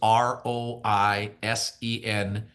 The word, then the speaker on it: Roisentul: So but the last name is Roisentul.